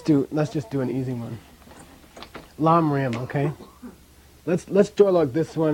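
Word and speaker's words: ལམ་རིམ: Pronounce this? Lamrim.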